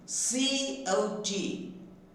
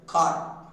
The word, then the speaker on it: cot: Then C-O-T. So we are pronouncing as a cart.